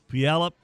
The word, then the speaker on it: Puyallup: She's a freshman from Puyallup. How do you say that, Hester? Puyallup, Washington.